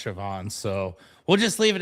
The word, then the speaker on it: Siobhan: So, the B and the H make the V sound and it really hangs people up.